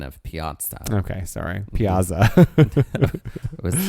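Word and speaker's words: piazza: to have a Piaza those of us from the musical theater will and always will pronounce it Piaza because of the light in the Piaza musical the it was a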